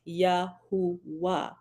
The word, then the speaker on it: YHWH: W in here and this W sound actually makes a ooh sound so what happened back in the day because it should actually be pronounced Yahoo right but back in